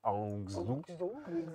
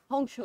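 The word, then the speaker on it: Hangzhou: o u d'accord donc les Français prononce ça angzou ça m'arrache un peu les oreilles mais c'est pas grave ça m'arrache les vas-y dis-le bien HCHO hancho et encore je le pronce très mal il faudrait demander à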